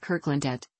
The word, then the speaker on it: Kirkelandet: In the local dialect, Kirkelandet, the church land, is pronounced Kirkelandet, without the middle E.